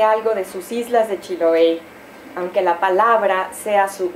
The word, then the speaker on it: Chiloé: en un eje pennsyvania chiloe con acento en la última sílaba Porque allá empuja la